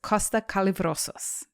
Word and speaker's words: Kosta Kallivrousis: Joining me for this series is Kosta Kallivrousis.